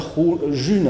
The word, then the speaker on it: Ğ1: Y se pronuncia june en francés. June, la june, casi como el mes de junio.